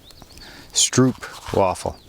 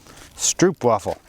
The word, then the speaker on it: stroopwafel: bit straw blah blah stroop waffle i always say it wrong stroopwafel more ducks coming those